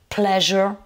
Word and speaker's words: pleasure: peut le retrouver aussi dans reviews lit habituellement pleasure le plaisir les genres les loisirs et en